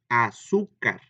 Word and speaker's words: azúcar: Para empezar, azúcar, ¿cuántas sílabas tendría? Pues tiene tres, ¿verdad? A va separada. Su, dos, car, tres sílabas. Y car es la última sílaba, ahí no lleva acento. Su es la penúltima sílaba, por eso es grave.